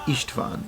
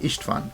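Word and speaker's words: István: The name Istvan is the Hungarian pronunciation of the name Stephen or Stefan, so if you ever visit Budapest, tourist maps will guide you to St.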